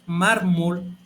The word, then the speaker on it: mármol: Me paso al ejemplo número 3, que es mármol, y como puedes darte cuenta aquí, el acento cayó en la grave, que es la penúltima, que quiere decir que es una palabra grave.